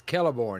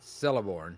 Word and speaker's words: Celeborn: okay okay not um it's kelleborn not celeborn yeah yeah I was